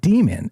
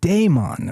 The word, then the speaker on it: daemon: And it's not demon, as you might expect, as James so smartly pointed out in the chat on the Discord before we began tonight. Shout out, James. It's not demon. It's pronounced daemon or daemon, which is D-A-E-M-O-N, or there's another